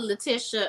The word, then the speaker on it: Leticia: as well it is they call it Latisha I'm gonna call it Leticia politicia like what are you doing she be an extra syllables to her own name foreign but um oh